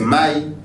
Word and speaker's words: mai: Parce que l'eau en lingala est proche du soleil dans la prononciation. L'eau c'est maï, le soleil c'est moi.